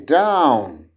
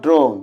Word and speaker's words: drown: this is poor and this is drown not drone this is not poor